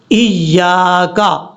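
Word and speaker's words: إياك: ادا کرنا ہے۔ کیسے، ایاک، ایاک، یعنی یا کے آگے الف ہے، اس کو لمبا کر کے پڑھنا ہے۔ اب اس کے بعد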